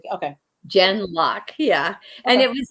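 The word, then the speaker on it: Gen:Lock: that name again it's Jen gen geen like generation g n and then like uh semicolon or colon and then lock Lok k l okay Jen lock yeah and it was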